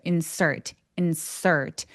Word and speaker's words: insert: 자, 얘가 insert. R이 느껴지게 S에서 RT로 바로 가는 것처럼 발음하시면 돼요. insert.